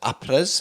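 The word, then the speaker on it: après: It's actually pronounced Apres, but we'll let you have that.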